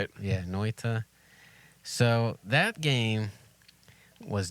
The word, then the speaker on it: Noita: I'm gonna pronounce it Noita. Yeah, that's how I would say it. Yeah, Noita.